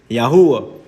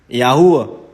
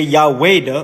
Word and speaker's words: Yahuwah: There's no W or E in the Hebrew. You have the Ua, which will be pronounced in Hebrew, the English transliteration, Yahuwah. Yahuwah.